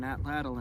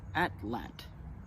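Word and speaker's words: atlatl: to throw on an atlal and hunt with I was recently told that the correct way to pronounce at lle is atlet and that's going to be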